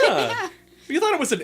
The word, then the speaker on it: Ye: know um the places that say like like Ye Old shop um the is actually supposed to be the it's just the it's just the it it's not standing it literally supposed to be pronounced the but it's a y it's because the Y